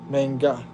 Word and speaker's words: manga: Manga.